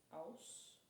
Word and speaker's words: Aus: drop it, which is aus. a u s and it's pretty much the same as like you pronounce it like there's W's in there.